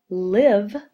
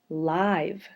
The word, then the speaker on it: live: This word could be read live, but it could also say live. So this word is tricky because it depends on how you say it as the difference of how we mark it. If you say live, there's a short sound, and that's a vowel consonant E exception.